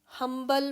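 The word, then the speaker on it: humble: हम्बल मैन, अब यहाँ पर एच से वर्ड स्टार्ट हो रहा है, लेकिन एच साइलेंट नहीं है, तो ह या एच जो है वो कौन सी साउंड है, कंसोनेंट साउंड।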